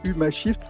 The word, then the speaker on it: Humashift: par rapport au titre, j'ai pas prononcé le le premier mot qui est huma shift parce que d'abord je sais même pas si ça se prononce comme ça. C'est Mohamed qui va le dire. Ça se prononce bien comme ça.